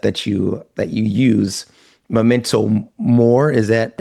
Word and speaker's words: memento mori: Memento mori, is that how you say it? Memento mori.